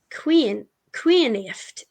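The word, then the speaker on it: caoineadh: Okay, well, it comes from a Gaelic word that is pronounced cuinift, and it means to cry or to weep.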